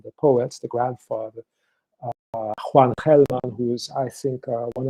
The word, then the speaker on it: Gelman: And she's a politician today in Uruguay, Macarena Gelman, or Gelman. With how you pronounce in the United States, you say Gelman.